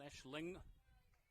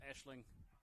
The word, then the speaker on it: Aisling: And Irish makes that AIS, makes that Ash sound, Aisling. Sometimes I think the PA said Eileen, but Aisling is the correct pronunciation.